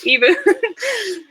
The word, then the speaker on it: Ebu: It's mispronounced often. Ebu.